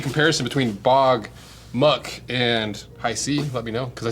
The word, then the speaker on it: HiSea: It's pronounced Hisea.